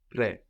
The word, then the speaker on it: près: Près de. Like present. Près is spelled P-R-E-S. Près.